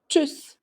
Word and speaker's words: tschüss: They're all talking quickly and excitedly, creating a sound that's similar to ch, ch, ch, tschüss.